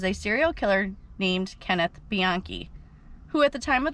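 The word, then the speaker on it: Bianchi: DNA and then the next suspect was Kenneth biani and the only reason I know how to pronounce that last name is cuz I had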